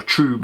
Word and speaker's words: trub: And there's our trub on the bottom, or trube as you want to pronounce it, however you fancy doing that.